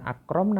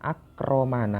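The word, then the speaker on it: أكرم: Akrom nah Ustaz Ilyas Padahal di sini seharusnya bukan Akrom membacanya melainkan yang benar adalah akroman Aa ramah memuliakan Nah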